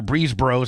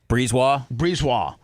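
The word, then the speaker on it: BriseBois: The current general manager, Breezebros. I know that's not how you say his name. Breezewell. How do you say it, Seth? Breezewell.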